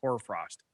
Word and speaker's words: hoarfrost: No, it's HORST, and it's pronounced hoarfrost.